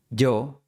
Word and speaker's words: yo: En el álbum Caminos de los Andes pronuncian yo quiero en vez de yo quiero.